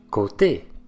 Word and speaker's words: côté: Mais le E accent aigu est prononcé. Notez la différence. Côte, côté.